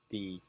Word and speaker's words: decide: For instance, the verb decide. The stress goes on the second syllable.